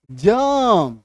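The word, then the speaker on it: germ: Wash करते हैं, जर्म, तो जर्म नहीं जर्म, ठीक है, ये होगा एक्चुअल उच्चारण।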